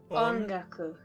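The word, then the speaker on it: 音楽: Ongaku.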